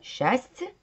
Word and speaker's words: счастье: а теперь давайте разбираться мы же не произносится счастья нет у нас две буквы сливаются в один звук это звук почему я